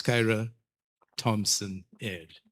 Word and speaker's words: Kyra Thompson Ayers: I just want to correct Kyra's name before I end cuz I know she looked at me when I mispronounced her name. Unless your name has changed, it's Kyra Thompson Ayers.